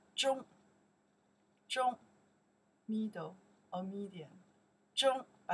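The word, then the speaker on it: 中: This is character pronounced Zhong.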